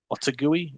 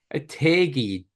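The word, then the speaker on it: Otaegui: Otagui? Adrian Otagui? Otegi, dick.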